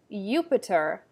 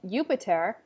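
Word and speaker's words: Iuppiter: Sometimes you'll see a J, sometimes not, but the J makes an I or a Y sound, like ya. So in a translation, you may have Jupiter, who's the equivalent for Zeus. It's going to be pronounced Jupiter in Latin.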